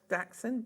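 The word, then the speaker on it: dachshund: Oh, Jess wants to know, is that the correct way of pronouncing it or would you say dashhound? Daxund. Dash. Dax.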